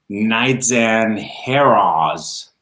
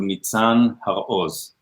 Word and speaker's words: Nitzan Haroz: name correctly yeah my my name is pronounced in Hebrew neat son have a hose so my last name is actually comprised a combination of two words and so it sounds like we all have fears